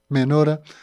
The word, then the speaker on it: menorá: y se recuperó la menora o menorá menora la mayoría lo pronuncian así el candelero de las